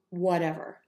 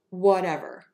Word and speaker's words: whatever: So the key is to, again, make the would very short, whatever, and we're going to use that flap T there, so it's going to sound like a D, and wherever.